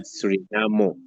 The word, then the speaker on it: Suriname: On writing, it looks like the name is written like Suriname, but when it comes to pronunciation, according to the natives of the country, they pronounce it Surinamo.